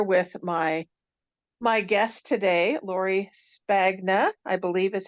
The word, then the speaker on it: Lori Spagna: I am here with my my guest today Lori spagna I believe is how you say your name